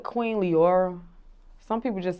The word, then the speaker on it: Leora: Leora. A lot of people like to say Leona. It's not Leona.